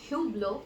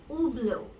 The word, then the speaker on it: Hublot: It's not Hublot, but it is, yes, you got that right, Hublot. It is Hublot because the French do not pronounce their H's.